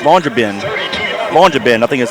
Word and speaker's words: Longyearbyen: Longyearbyen, I think is how they pronounce that.